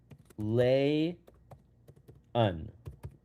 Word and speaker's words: Layun: My last name is pronounced Lay un. Layun.